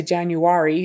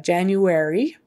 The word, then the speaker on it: January: So that AR before the Y at the end there, pretend it's spelled like A-I-R. So it's an air sound, not an R. Don't say January, it's January. Depending on the quality in